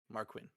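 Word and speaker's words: Mariquin: rooms, I appreciate your hospitality, Miss Mark Queen. Did I hear that correctly?" Here, I'll spell it for you. Whoa. Actual spelling. M A R I Q U I N Marquin.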